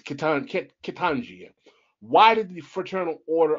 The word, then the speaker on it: Ketanji: I hope I'm pronouncing her name wrong. It's Ketanji.